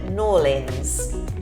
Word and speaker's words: New Orleans: I stick to my good old New Orleans pronunciation. Yeah. So some locals call it N'Orleans. No. It's hard to do. It's kind of N'Orleans. N'Orleans. So some locals pronounce it N'Orleans.